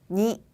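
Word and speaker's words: に: 니, 니.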